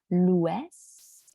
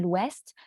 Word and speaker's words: l'Ouest: va vers euh comme ça euh le Nord l'Ouest l'Ouest donc c'est euh le le mot m l'Ouest c'est un peu différent parce que normalement on